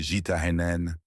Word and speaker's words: Gitane: Il baptise sa marque Gitane. En français, le mot désigne la femme bohémienne. Mystérieuse, libre, impossible à retenir. Prononcé Jenen, il roule dans la bouche comme une promesse d'aventure.